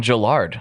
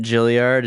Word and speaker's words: Jillard: I get Gilliard and Juilliard, like the school, and it's like, well, you're just adding letters now.